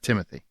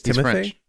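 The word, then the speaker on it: Timothée: people I'm starting to timate is actually how you say his name correctly it's not Timothy it's not Timothy it's Timothy it's Timothy yeah go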